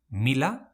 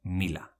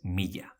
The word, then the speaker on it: mila: speech, the rules are: Mila: mila or milla, never miya mailu: maillu o mailu,